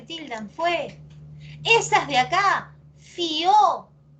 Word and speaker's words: fió: Pero es fió, es aguda. No, es monosílabo. Pero piensa. ¿La cerrada acaso suena más que la abierta? Acá no dice fío. Fío sí es una palabra de 2 sílabas. Fío. Pero fío no. Porque cuando suena la abierta no se separa. Cuando suena más la abierta no se separa de la cerrada.